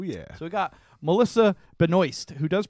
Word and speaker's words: Benoist: season right oh yeah so I got Melissa Benoist who does pronounce her name like that which is weird